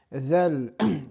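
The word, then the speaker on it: ذال: Y la letra DAAL como la TH inglesa, se pronuncia como la TH inglesa, DAAL.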